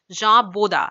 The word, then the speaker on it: Jean Bodin: of another French philosopher Jah bodha as we pronounce that in French okay who developed his